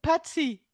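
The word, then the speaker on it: pachi: Et plus tard aussi, ça fait partie du même registre, c'est Patsy. Patsy. Ça s'écrit P-A-C-H-I.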